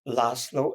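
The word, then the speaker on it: László: Name was Laszlo, L like Lillian, A like apple, S like Samuel, Z like zebra, O like orange.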